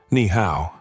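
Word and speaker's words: 你好: "Ni hao. Push the breath."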